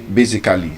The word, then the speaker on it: basically: We say any word that ends with A-L-L-Y, as an adverb. We say basically, technically, just as a cheat code. Just know that A-L-L-Y, just pronounce it as cli.